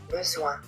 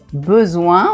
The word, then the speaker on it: besoin: Besoin. Besoin. On pourrait couper ici. D'abord on dit o et après on dit un. Ça fait besoin.